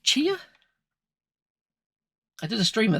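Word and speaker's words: Tchia: um so pick up I think it's pronounced chia I did a stream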